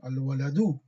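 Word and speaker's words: الولدُ: Even we see the dhamma or not, but we'll pronounce al-waladu. We'll pronounce the dhamma. Even we do waqf, but the background we should know it has a dhamma.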